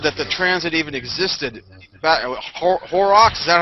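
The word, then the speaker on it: Horrocks: who actually discovered that the transit even existed horox is that how you pronounce his name that's right Jeremiah horox yes yes horox in 1639 I mean what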